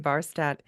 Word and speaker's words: Barstad: We were laughing off the air because her last name, Barstadt, I wanted to pronounce it Barstadt or, something, I don't know, something foreign, something a little bit sexier. She's like, nope, it's from Minnesota. It's Barstadt. Barstad.